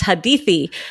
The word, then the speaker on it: Hadithi: It's Hadithi. How did you know how to pronounce my name properly?